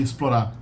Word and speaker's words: explora: hard and when it's so easy to say explora Explorer just like it's an S it's Explorer espresso Express